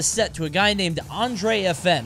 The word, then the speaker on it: AndresFN: So for him to drop a set to a guy named AndresFN, I think that's how you said it. I think the S is silent.